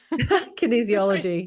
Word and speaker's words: kinesiology: kin oh I'm not sure if I can pronounce this kin kin ah Michelle please help me Kinesiology yes thank you when I practiced this bio